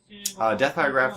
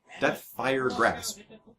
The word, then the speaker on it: Deathfire Grasp: Deathfire Graph looks like it's coming out from Ari here.